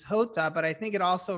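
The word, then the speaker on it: jota: i do know that the spanish word for j is hota but i think it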